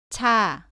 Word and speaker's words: 차: 발음은 자와 비슷한데 공기를 더 많이 밖으로 내면서 발음합니다. 따라해 보세요. 차, 차.